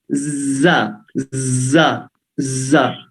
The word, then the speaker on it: ز: دیکھیے زبان آگے سے تھر تھر آ رہی ہے تو یہ آواز آتی ہے، لیکن اگر زبان کی نوک سامنے کے دانتوں سے باہر آ جائے تو اس کی آواز یہ جو یہ ختم ہو جائے گی.